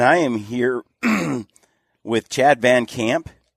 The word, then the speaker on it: VanCamp: And I am here with Chad VanCamp, right? VanCamp? Yep, I was just taking a drink. At first I thought it was Band Camp. I get that a lot. But it's VanCamp.